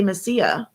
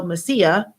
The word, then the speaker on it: Mesilla: go to Avenida de Mesilla. And I was like, oh, okay. Now, I didn't know what that was. I didn't know that two L's are not pronounced two L's.